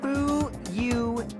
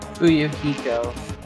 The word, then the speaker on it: Fuyuhiko: My first name is pronounced Fuyuhiko. Fuyuhiko.